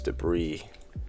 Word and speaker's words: debris: of light and these debris this debris flies out I always want to pre pronounce it debris because there's a s when you write it so also when they